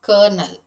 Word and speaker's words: colonel: to be pronounced as colonel, you have to assume the letter r in the word c o l o n e l, that it is has to be pronounced as colonel.